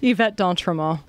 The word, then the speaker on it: Yvette d'Entremont: What's the correct pronunciation of your name? Yvette D'Entremont.